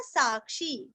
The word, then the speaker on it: साक्षी: अभी यहाँ पे ध्यान देना, जीवो जी दीर्घ, विनयिता साक्षी वी और ई हाँ य का ई, विनयिता साक्षी वी ई रस्व साक्षी काक्षी दीर्घ। विनयिता साक्षी मुकुंदो।